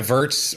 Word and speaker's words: Virts: astronaut terry verts and i hope i'm saying verts right is that how we pronounce verse sir how you doing welcome to the show doing good man it's good to be here uh yeah verts works good and i love that